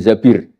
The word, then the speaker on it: Zabir: nikah sama Abdurrahman Bin Zabir di di hadis ini bukan bacanya bukan Zubair tapi Zabir Abdurrahman Bin Zabir tapi